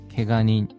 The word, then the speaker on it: 怪我人: 개간인 부상자입니다. 개간인 또 사람인자의 발음에 주의해 주십시오.